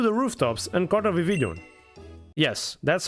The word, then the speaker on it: Vivillon: But before that, I returned to the rooftops and caught a Vivillon. Yes, that's how you pronounce it.